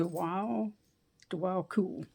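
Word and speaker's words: Djwal Khul: this is how you say his name d DW cool DW cool is a Tibetan monk Enlighten action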